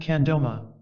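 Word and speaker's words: mkha' 'gro ma: Their Tibetan name is Mkagroma, pronounced Kandoma.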